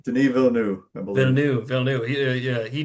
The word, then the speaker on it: Villeneuve: I can never know how to pronounce his Villeneuve, last name. Denis Villeneuve, I believe.